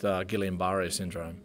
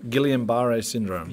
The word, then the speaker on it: Guillain-Barré syndrome: And I presented myself at hospital, and it took a few days, but I got diagnosed with Guillain-Barré syndrome.